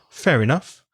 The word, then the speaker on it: fair enough: careful of the pronunciation because fair ends with our and enough begins with a vowel a so it goes together so it almost sounds like theory which is utter in Spanish it's very fair enough fair enough it goes together it's kind of one word when you pronounce it fair enough there's one